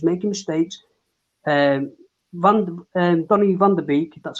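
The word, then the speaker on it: Donny van de Beek: player but he's making mistakes um van um Donnie vanderbeek that's how you say his name he's brought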